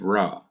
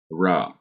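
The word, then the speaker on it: רע: And we have the adjective ra. Remember that ayin is not pronounced. So I'm just pronouncing the sounds of resh and pathak. Ra.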